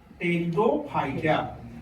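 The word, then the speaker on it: Pteridophyta: Cryptogams के अंतर्गत कौन कौन आया, थाइलोफाइटिया, ब्रायोफाइटिया, टेरिडोफाइटिया, साइलेंट है।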